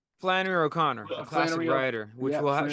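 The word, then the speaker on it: Flannery O'Connor: Flanny O' Conor. Flanner O' Conor, a classic writer, which will she'll have a more influence on Nebraska, right?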